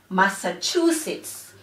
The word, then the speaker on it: Massachusetts: Again, Auntie Donna receives donations from Massachusetts. So the word Massachusetts has four syllables. Mass-sa-chu-sits.